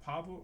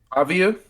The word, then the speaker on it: Pavia: Dav Pavo, I'm not pronouncing the name. Pavia.